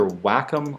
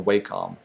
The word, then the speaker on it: Wacom: The type I have is from a company called, it's either Wacom or Wacom. I've heard it pronounced both ways.